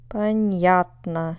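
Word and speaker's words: понятно: you hear it Babushka how about Patna where's the dress Patna it's on the second syllable Babushka of course means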